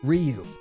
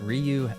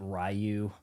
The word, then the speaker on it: Ryu: Ryu, be always brave. And did anybody else pronounce it Rayu? Even Wes Study in the Street Fighter movie?